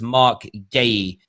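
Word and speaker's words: Marc Guéhi: this guy here mark a few people in the comments to tell me he's pronounced mark gaye yeah i mean i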